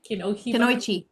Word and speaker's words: Kunoichi: Sarah, how do you pronounce that? Kunoichi.